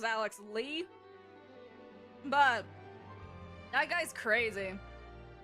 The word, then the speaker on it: Alex Lee: name this whole time I thought it was Alex Le I don't know why I didn't pronounce it as Alex Lee but that guy's crazy